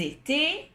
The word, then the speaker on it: étaient: étions, vous étiez, ils étaient ou elles étaient. Comme toujours, le ENT ne se prononce pas et la S finale ou la T finale ne se prononce pas.